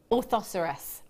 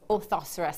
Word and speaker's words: orthoceras: from the workshop and told me how to pronounce it and it is or oh hang on orthoceras orthoceras that's it cuz I kept thinking that sounds